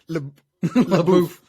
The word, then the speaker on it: Leboeuf: Leboeuf.